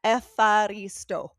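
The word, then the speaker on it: ευχαριστώ: I'm like literally pronouncing it. Okay, say it again, please. Uh, epharisto.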